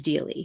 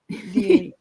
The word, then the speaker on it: Deall: It is really with a D, which becomes Deely. So yes. Deely.